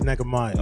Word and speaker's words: Nehemiah: That's how you say it. I don't say Netch. I say Nehemiah.